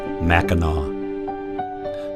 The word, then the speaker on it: Mackinac: you Mackinaw the only word in the English language where it is acceptable to pronounce the letter C as if it were a W Mackinac a city in which